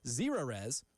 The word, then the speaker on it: Zerorez: And remember, Zerorez, like zero residue, spell it backwards or forwards, it's the right way to clean.